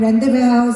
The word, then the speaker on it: Rendezvous: Medyo mahirap siya i-pronounce. Pwedeng rendezvous, di ba?